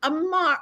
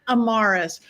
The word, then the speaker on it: Amarus: one and only Amar. I was gonna say your last name wrong, so I said your name wrong. Amarus.